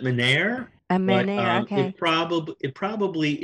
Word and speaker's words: Menare: We pronounce it Menare.